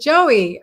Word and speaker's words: Joie: And Joie said, I pronounce it Joey. Okay. Yes, that's absolutely okay. But love that it spells joy in French.